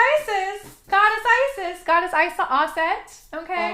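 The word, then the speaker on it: Auset: Goddess Isis goddess is AET okay AET that's how the way you spell it is a u s e t and that was the original like pronunciation Egyptian name for her yes so she is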